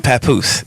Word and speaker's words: Papoose: Papoose.